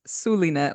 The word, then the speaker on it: Zulynette: and their mama knows it's pronounced sulinet like an S the Z is only there to fool you ah thank you sulinet